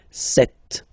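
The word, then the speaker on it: sept: Then here, remember, P is not pronounced. Okay, it doesn't exist, so you get this set sound. Set. Set.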